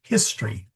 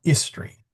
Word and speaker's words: history: You do not swallow your H's. So, it's history, not history, or herb, not herb.